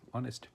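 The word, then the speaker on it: honest: এইচ ও এনই এসটি অনেস্ট। কিন্তু এইখানে এইচটা কিন্তু সাইলেন্ট থাকতেছে।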